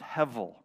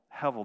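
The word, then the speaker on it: הבל: is the word heavil it's spelled h-e-b-e-l that's the English transliteration of it but it's pronounced hevel hevel this word has a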